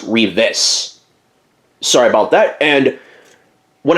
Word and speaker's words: Reeves: actually plays on here I called him Tony Reeves and it's actually pronounced Reeve-is.